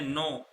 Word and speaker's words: know: उसके बाद में आता है जानने के लिए हम बोलते हैं नो, केस में साइलेंट होता है, नो, न्यू, नोन।